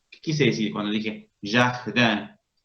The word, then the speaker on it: jardin: I más N en la misma sílaba suena en, con una E nasalizada.